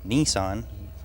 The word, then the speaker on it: Nissan: The engine's a Nissan. That's how we pronounce it.